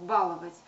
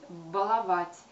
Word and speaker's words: баловать: в этом случае да мы чаще привыкли слышать с ударением на первый слог баловать но это ударение не верная и пока что филологи словари нам не предлагают вариант баловать как употребительные как допустимый все таки пока что словари строго нам рекомендует говорить баловать ставить ударение на последний слог на вторую а на последний третий слог но и соответственно все